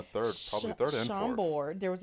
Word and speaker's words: Chambord: Chambord. There was a. Is that how you say it? Yeah, Chambord.